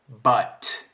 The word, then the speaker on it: but: He pronounces the T. T. The plosive at the end.